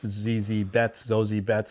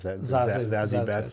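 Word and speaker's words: Zazie Beetz: Now the other one with Zozie Betts, or how do you say her name? Zazie Betts and Michael Pena.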